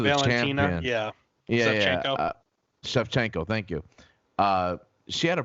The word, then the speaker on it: Shevchenko: Shevchenko, thank you.